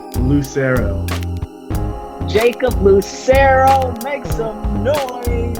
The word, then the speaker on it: Lucero: Lucero.